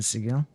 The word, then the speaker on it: Sigil: Even though the word is clearly Sigil, or the most general usage is Sigil of the pronunciation, but in this game it's pronounced Sigil apparently.